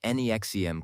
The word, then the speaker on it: NXIVM: The NXIVM, pronounced NEXIM cult, which was exposed in